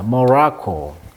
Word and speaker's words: Morocco: 우리 발음이 이제 모로코인데 영어식 발음은 강세가 이음절에 있습니다. 모로코. 자, people in Marrakech, 아까 마라케스라는 고대 도시에서, 그리고 across 전국이죠.